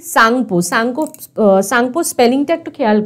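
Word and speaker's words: Tsangpo: টিবেতে এর নাম কি সাংপো সাংপো সাংপো স্পেলিংটা একটু খেয়াল করো শুরু কিন্তু আছে টি দিয়ে TSANPO কিন্তু টিটা কিন্তু প্রনাউন্স হবে না মানে উচ্চারণ হবে না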